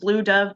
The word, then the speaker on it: BLVE Dove: artist whose Instagram handle I think it's pronounced Blue Dove, but it's BLVE Dove.